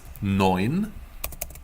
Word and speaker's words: neun: Now, 9 is neun. We have this E-I-U. You would pronounce it like oi in oyster. So in German, this is oi.